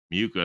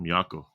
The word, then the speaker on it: Miyako: I mean, Miyuko, I think Miyoko. She's one of my favorite guitar players for sure. Miyako is how you say her name.